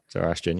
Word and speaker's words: Zoroastrian: Zoroastrian, is that how you pronounce it? Yes. Zoroastrian, yeah.